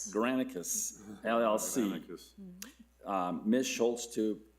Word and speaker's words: Granicus: to enter into contract with How do I pronounce that name? Granicus. Granicus, LLC.